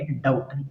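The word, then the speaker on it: doubt: आई डाउट, इसको क्या पढ़ेंगे, डाउट, बी साइलेंट रहेगा, डाउट नहीं पढ़ेंगे, डाउट ऐसा पढ़ेंगे।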